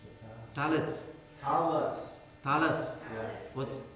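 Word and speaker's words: tallit: No, it's talit, but some Orthodox, the Hasids won't pronounce the last T. They'll change it to an S because that's what they do.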